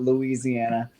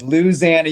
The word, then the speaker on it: Louisiana: did say Louisiana which me is the right pronunciation of how you say that state it's not Louisiana it's Louisiana you better listen to uh what's his name